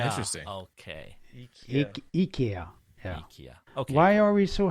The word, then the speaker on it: IKEA: It's IKEA. IKEA. Oh, interesting. Okay. IKEA. Yeah. IKEA.